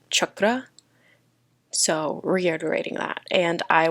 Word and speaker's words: chakra: relate to the root chakra that's how you say it correctly but i am very whitewashed so i'm going to be saying chakra even though it's chakra so reiterating that and